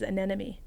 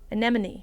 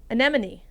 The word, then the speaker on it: anemone: And that is anemy. Anemone. Anemone. Like a cenema. C anemy. Anemone. Annema. Anemone. Um, is that the word you're a? No. A ne M O N E.